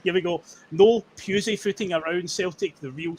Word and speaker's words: Pusey: So obviously a new signing Jamai Simpson Puzzy. Uh okay, that's how you pronounce his name.